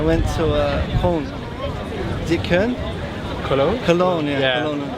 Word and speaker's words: Köln: Is it Köln?